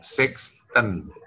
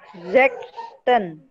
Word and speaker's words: sechsten: Sexten. Oh, sexten.